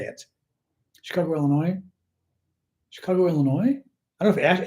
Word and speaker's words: Illinois: of the other uh and the s in Illinois is corre correct is silent also I heard um somebody on the